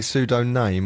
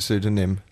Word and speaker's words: pseudonym: Have you, did they say pseudo-name or is it pseudonym? It's pseudonym and he...